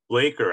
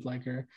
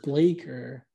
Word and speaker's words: Bleker: it's blecker is it blecker or blaker blaker actually okay because i've heard i hear everyone say blaker but i've also heard some people say blacker and it looks like blacker the people who don't know how to pronounce